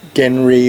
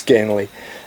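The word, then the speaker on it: Genly: this linear narrative follows genre or gently the locus can't pronounce elves properly so they refer to him as genre but his name is Ganley so it follows this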